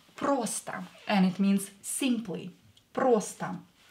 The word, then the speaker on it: просто: Просто. Просто. Просто means simply. O is not stressed, so pronounce it as A. Просто.